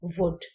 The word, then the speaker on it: would: Moon long form here you pronounce would exactly the same way as would so the spelling is